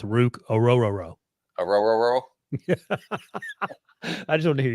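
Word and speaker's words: Orhorhoro: really help well I just looked up the pronunciation and it's Aurora Aurora I just want to hear you say that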